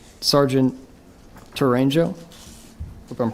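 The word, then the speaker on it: Tourangeau: absolutely uh t-o-u-r-a-n-g-e-a-u H pronounce it again for us Toronto it's easier and it looks okay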